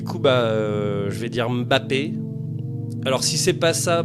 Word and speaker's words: Mbappé: parler de Kilian Mbappé alors je dis Mbappé parce qu'il paraît que ça se prononce Mbappé alors que tout le monde dit Mbappé et comme j'ai horreur